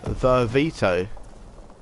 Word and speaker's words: Vervito: Vervito. It's like Vimto, isn't it? It's like Vimto with a few more V's in it.